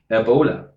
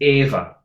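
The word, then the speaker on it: Éabha: to unlock my phone again so it's e-a-b-h-r Ebola it's actually efada I don't know walk to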